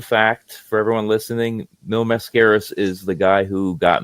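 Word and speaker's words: Máscaras: And I remember I couldn't pronounce his name. I said, "Oh, Mil Mascus." No, Mascaras.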